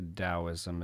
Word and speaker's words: Taoism: principles in taoism and when we say daoism it's spelt with a t t a o i s m um or the dao